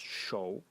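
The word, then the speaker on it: 手: And the semantic element in it is this element over here, pronounced shou, and it is a hand, pointing to the meaning of the character that you have to grab something and so on.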